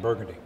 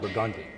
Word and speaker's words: Burgundy: easy for instance uh somebody not from New Orleans will pronounce uh burgundy but we pronounce it burgundi it's just something different